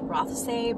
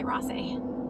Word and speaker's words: Rothesay: John turns into, it's pronounced Rothesay, but we say Rothesay.